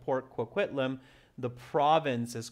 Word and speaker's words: Port Coquitlam: looking for capital letters and the answer is port coquitlam tricky to pronounce it's from my hometown area so that's